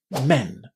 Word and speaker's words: men: On the other hand, in men, we're pronouncing this word with a short e exactly in the same way as we say the e sound in pet or get or friend.